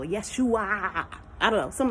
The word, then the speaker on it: Yeshua: And when you pronounce it in Hebrew, it sounds just like Yeshua. Almost the exact same as Yeshua. I think there's like another syllable. Yeshua.